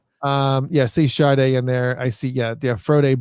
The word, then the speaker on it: Sade: Actually, if you look at her very, very first album, underneath her name in parentheses, it says pronounced Sade. Sade, like SHAR and then DAY.